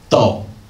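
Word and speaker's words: 到: Dao, to arrive at a place. This part, the blue one, pronounced dao.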